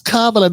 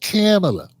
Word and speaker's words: Kamala: not answering these question it's KLA not camela you shut up you